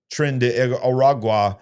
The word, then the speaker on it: Tren de Aragua: of this Venezuelan organization, Tren de Aragua. Okay. What? Say it for me. Tren de Aragua? Is that how you say it? Say it. I think people say it faster, like Trinidad.